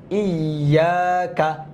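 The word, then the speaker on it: إِيَّاكَ: এখানে হইলো ইয়াকা, ইয়া হামজা জের ই, ইয়া আলিফ জবর ইয়া, আবার হইলো 2 বার উচ্চারণ হইলো। তাসদিদ হওয়ার কারণে 2 বার রিপিট করা লাগলো।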